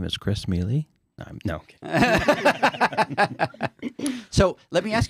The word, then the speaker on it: Mele: No, Mele is how we pronounce it. Mele. So I've been saying it all wrong, and you haven't corrected me. That's the proper way to say it.